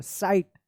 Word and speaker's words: site: बाइट, SIT seat, SITE, देखिए ई है ना लास्ट में तो इसका उच्चारण नहीं होगा, आई का आई उच्चारण होगा। साइट, क्या पढ़ेंगे इसको साइट पढ़ेंगे।